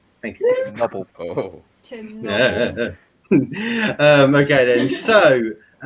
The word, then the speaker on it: Chernobyl: I would appreciate it if you actually pronounce it correctly. Chernobyl. Thank you. Chernobyl.